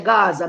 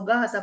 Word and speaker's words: Gaza: When the people them say um free Palestine, when them say Gaza, me have said to myself, I saw Gaza pronounce like it have one H at the beginning and one after the G.